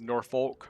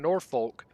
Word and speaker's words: Norfolk: we have this place near us um that is spelled n o r f o k and so it's Norfolk right but if you go to Norfolk and